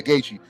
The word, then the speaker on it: Gaethje: Gaethje. Yeah, Gaethje.